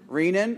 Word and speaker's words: renin: there were two other hormones mentioned in passing renin or renin you'll hear it pronounced both ways renin or renin was produced